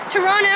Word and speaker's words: Toronto: Toronto, and we pronounce it Toronto because natives of this home and native land.